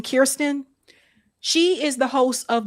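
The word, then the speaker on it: Kristen: Hey, that's what we call how you pronounce her first name. Kirsten.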